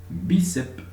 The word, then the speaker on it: bíceps: Entonces, bíceps es una palabra llana. Última, penúltima. Acento en la penúltima.